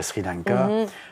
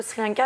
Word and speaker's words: Sri Lanka: la prochaine tendance de Sri Lanka qu'on doit prononcer Shrek si on le prononce dans la langue tamoul et toi tu es